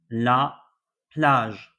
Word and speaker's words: plage: La plage. The missing letter here was G. G. The sound here was J and not G.